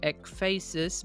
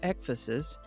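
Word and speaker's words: ekphrasis: I would have pronounced it ekphasis, but I found several pronunciation guides that indicated it is pronounced ekphasis. Sort of like emphasis, only with an ek instead of an m.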